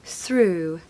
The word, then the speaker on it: through: first one basically it's basically a double o sound okay so ooh so through through through when I looked